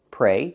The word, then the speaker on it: pray: The same pronunciation, pray, use a long A like day and say, pray, and the preposition is for.